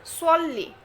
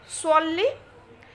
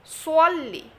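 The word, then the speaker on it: صَلِّ: এই সোয়াদ শব্দটা একটু মোটা করে পড়তে হবে। সোয়াল্লি, সোয়াল্লি, সোয়াল্লি।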